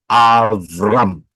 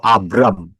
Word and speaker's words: Abram: 17 ayat 5, dikatakan namamu tidak lagi disebut Avram atau Abram, tetapi namamu akan menjadi Avraham atau Abraham. Sama saja, tergantung pengucapan.